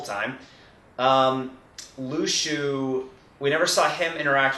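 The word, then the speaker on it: Luxu: The only issue is that we never actually saw, and the official pronunciation now is Lushu, so Sora All-in-One was right the whole time. Lushu, we never saw him interact with anyone other than the Master.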